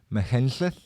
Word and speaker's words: Machynlleth: Apparently it's Machynlleth.